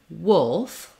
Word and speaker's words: wolf: live today um so in Wolf we have our uh o we have our vowel like we just had in the word wood so the first thing is when you're saying would or when you're trying to say wolf you might find it helpful to say would first to get that uh shape that uh vowel you can also